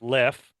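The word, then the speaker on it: Leffe: I had a I found out this is pronounced left so I had a left and I decided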